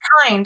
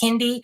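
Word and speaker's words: Kiinde: Another bottle warmer that is exclusively for breast milk, made by, I don't even know how to pronounce it, Kind, the K-I-I-N-D-E. It's Kind. I'll never understand. I always called it Kindy, and me and Jewel were funny, interesting.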